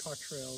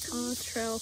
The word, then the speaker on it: Cottrell: I think it's Cottrell is how you pronounce it.